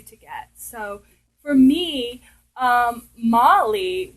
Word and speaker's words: Molly: So for me, Molly was about, okay, it rhymes with Polly, so it's a little